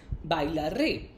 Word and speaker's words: bailaré: I will use the first conjugation, that is A, with an accent on the E. Therefore, the conjugation for the verb I will dance, bailar, becomes bailaré.